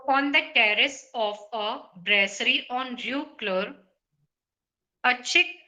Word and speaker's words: brasserie: On the terrace of a brasserie, Brasserie, you pronounced this word correctly.